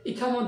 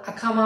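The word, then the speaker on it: إقامة: নামাজের পূর্বে যে ইকামত দেওয়া হয়, আমরা বাংলায় যেটাকে ইকামত বলি, সেটা হচ্ছে ইগামা। আঞ্চলিক আরবিতে সেটাকে ইগামা উচ্চারণ করা হয়।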